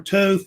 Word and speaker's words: Thoth: Of course, Thoth or Thoth, they pronounce either way, I think.